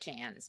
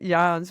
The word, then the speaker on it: Jans: Technically, but my husband's family, it's his name, pronounces it Jans because they've been in the States so long. Uh-huh. That does sound very American, Jans, but my mother is Dutch, so that's why I went ahead and pronounced it Jans.